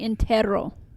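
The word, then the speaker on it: entierro: such as an entiero I don't know how to pronounce that word e n t i e r r o Intero it's actually Intero ah but if the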